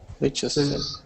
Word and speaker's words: Leicester: Leicester. Leicester. So le is the stress. This one has the stress on the le. So it's le. Leicester.